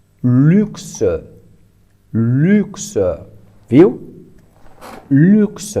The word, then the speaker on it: luxe: Temos U aqui, que pronunciamos U. Temos X, que pronunciamos X. E, que se pronuncia E. Então, essa é luxe.